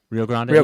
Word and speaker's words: Rio Grande: Rio Grande they say it properly.